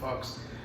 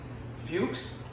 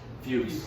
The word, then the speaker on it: Fuchs: And then after I realized that it was this Sim Fox, and really, Fuchs? Fuchs. I apologize. It's Fuchs. I believe it's Fuchs.